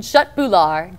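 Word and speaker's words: köttbullar: Pronounced in Sweden, shut bular.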